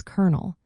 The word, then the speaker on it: colonel: It's spelled c o l o n l but pronounced as kernel. Yes, like the part of a popcorn or a seed.